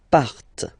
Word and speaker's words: partent: Okay, and the last persons, il, elle, partent. Remember, classic ending, ENT, but then you don't pronounce them, partent, partent.